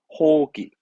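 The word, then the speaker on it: 放棄: 방기가 뭐냐면 우리말로는 포기의 뜻으로 포기하다 뜻이라 발음은 호기, 호기스를 합니다.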